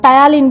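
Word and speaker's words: ptyalin: इसी को हम लोग टायालिन भी कहते हैं, टायालिन। टयालिन, इसमें पी साइलेंट है, टयालिन में पी साइलेंट है।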